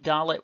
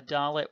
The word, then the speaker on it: dalet: But like gimel, we say it the same way either way in our pronunciation, duh, as in the D in dog. But if you transliterate into